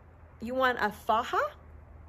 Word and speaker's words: faja: It's pronounced faja. It's spelled F-A-J-A, faja, just so you know. I was calling it a faja. That's a faja. But so ladies in our tummy tuck groups confirmed it is a faja, okay?